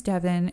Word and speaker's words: Deavan: And my mom's like, oh my God, that sounds like Deavan. I love it. So I want Deavan to be spelled like heaven.